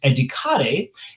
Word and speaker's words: educare: And remember, educare, the original pronunciation in Latin is educare, and educare means to nourish or to elevate.